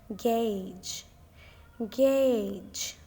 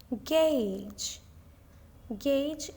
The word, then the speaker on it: gauge: the correct pronunciation is Gage Gage this word has only one single syllable now practice it with me gauge gauge is a tool for